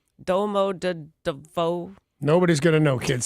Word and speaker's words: Domodedovo: This was a departure from Domodedovo Airport. Wow, I pronounced that wrong. Domodedovo.